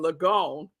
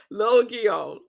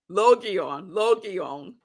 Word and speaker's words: Logion: And yesterday I was saying Logion. That's so wrong. That was so wrong. It is pronounced Logion. Logion. It's three syllables.